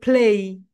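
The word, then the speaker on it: play: প্লে প্লে প্লে প্লে বলি, right? কিন্তু এটা রাইট প্রোনাউন্সিয়েশন হবে প্লেই। সবাই বলো প্লেই, প্লেই, ফা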